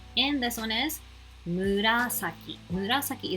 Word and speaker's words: 紫: Murasaki is very hard to pronounce, so make sure you listen carefully and try to pronounce this correctly.